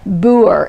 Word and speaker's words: Booher: The H is silent. Booher. It rhymes with doer, as in she's not a talker, she's a doer.